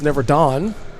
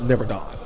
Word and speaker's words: Neverdon: uh number 12 Charles neveron we've been saying his name wrong and we were corrected on the spot in the building so so uh yeah we got that straight his name is Charles neverdon he's one of the